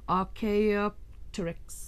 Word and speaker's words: Archaeopteryx: It's Archaeopteryx. How somebody can say that fast, I do not know. But it's Archaeopteryx.